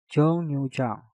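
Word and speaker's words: 정류장: Jong diakhiri dengan nyeng, setelah itu diikuti kata yang diawali dengan real, maka real kita rubah menjadi suara nyen. Untuk kata ini pengucapannya menjadi jongyujang, jongyujang, jongyujang, jongyujang.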